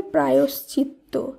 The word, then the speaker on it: প্রায়শ্চিত্ত: এরপর যে শব্দটি রয়েছে এর শুদ্ধ উচ্চারণ হবে প্রায়শ্চিত্ত, প্রায়শ্চিত্ত।